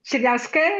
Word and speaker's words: Chernyavska: Chernyavska, yeah, good.